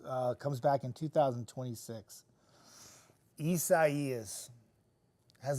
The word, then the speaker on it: Isaias: Like, it was like everybody came to my page to be like, correct me on how to say it. And I'm like, no. It's Isaias.